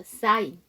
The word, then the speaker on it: sign: sign. S-I-G-N. 거기서도 G가 묵음이죠.